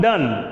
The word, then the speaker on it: Donne: actually a priest john donney oh john don d and annie do you any oh john don as you pronounce okay the pronunciation may be different huh as john dunn john dunn he was